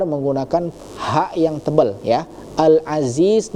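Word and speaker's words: العزيز: ha yang tebal ya, al-aziz. Nah, di situ huruf zanya itu jangan lari ke huruf dza ya karena ada dua, ada dza yang kecil, ada za yang lebih tebal ya. Alazizul ya. Perbedaan huruf dza dengan za itu sangat berbeda ya.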